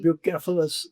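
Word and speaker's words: Bucephalus: ब्यूसेफलस जी, या जी। ब्यूकेफलस ग्रीक्स में, ग्रीक तो उसे ब्यूकेफलस प्रोनाउंस करते होंगे।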